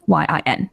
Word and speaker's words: Yin: is and then my chinese name which is spelled y-u-j-i-a and my last name which is ian y-i-n it's a bit of a long one but